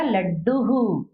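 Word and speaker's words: लड्डुः: अब देखिए लड्डू, और इसमें ऊ की मात्रा है इसलिए विसर्ग का उच्चारण क्या होगा? हु, तो क्या हो गया? लड्डू हु।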